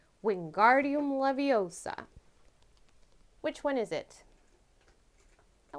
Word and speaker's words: Wingardium Leviosa: professor flitwick's charms class do you know how to say the spell correctly is it a wiggy woodem lavoosa b levitatum wiggleduda or c wingardium leviosa which one is it